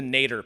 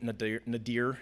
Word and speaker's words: nadir: there's the rise of the Nader period or Nate nadir depending on your pronunciation but the nadir period